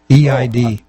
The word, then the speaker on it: Eid: uh what is it EAD EAD what is that holiday how's it pronounced Eid Eid sure I'm all right yeah